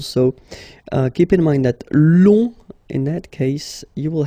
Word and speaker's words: long: So keep in mind that long, in that case, you will have to add this U and then E. Okay, so long, remember you don't pronounce the final G, will become longue.